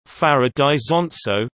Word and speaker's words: Farra d'Isonzo: Farra di Sonzo, Italian pronunciation, Farra di Sonzo, Slovene, Farra ob Soci, Friulian, Fair, southeastern Friulian,